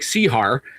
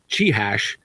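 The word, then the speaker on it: Čihař: It looks like Sihar, but he's a Czech. And so those AR last names always come out sounding funny, but Chihash is how you pronounce it.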